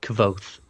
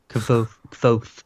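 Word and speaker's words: Kvothe: Um, so you know, by the way, the name is pronounced Cavoth. Cavoth, which we never even got close to. I think I think we said everything but that. Yeah. Kavoth.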